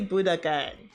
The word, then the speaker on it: Budokan: I say it, pronounce it correctly. Budokan.